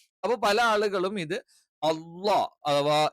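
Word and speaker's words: الله: ഒരു ലെറ്ററും ആയി പോകരുത് ഈ ലെറ്റർ നമ്മൾ ഉച്ചരിക്കുന്നത് നാവിൻറെ സൈഡ് ഭാഗം ആ സൈഡിലുള്ള അണപ്പല്ലിൽ ടച്ച് ചെയ്തുകൊണ്ടാണ് ഒരിക്കലും അള്ളാ എന്ന് അങ്ങനെ ഉച്ചരിക്കാൻ പാടില്ല ഇനി ളാ എന്ന് പറയുന്നത്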